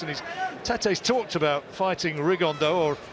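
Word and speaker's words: Rigondeaux: he's talked about fighting rigondo or as he's correctly pronounced with the uh spanish accent rig on dao and two absolute geniuses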